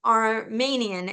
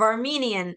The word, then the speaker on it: Armenian: Like Iran, like Armanian instead of Armenian.